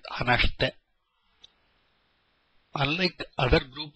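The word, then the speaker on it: 話して: The I in this shite is silent, hanashite.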